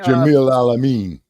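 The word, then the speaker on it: Jamil Al-Amin: Jamil Alameen. Yeah, Jamil Al Amin, Rest in Mm-hmm.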